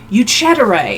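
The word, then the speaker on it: Ucidere: I forgot to say you cheddaray oh um how do I spell that it is um I'm glad you asked u c i d e r e it's pronounced or he him good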